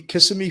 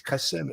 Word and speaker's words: Kissimmee: Kissimmee, Florida. I keep saying it wrong, Kissimmee. I know people say, you're saying Kissimmee. It's Kissimmee. Okay.